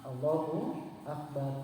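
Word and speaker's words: الله أكبر: Cukup segitu membacanya tidak ada yang panjang kecuali di lafaz lamnya. Allahu Akbar. Tas tidak dipanjangkan Allahu Akbar. Jadi itu di Allahnya saja saja yang panjang. semuanya kecuali itu dipendekkan Allahu Akbar.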